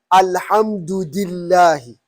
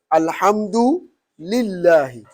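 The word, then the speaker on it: الحمد لله: malaki yaomi did ah you hear some people say al-hamdu dillahi al-hamdu dillah yes that's wrong totally there is no any kira that will read it al hamdu dilla no the right way to pronounce it is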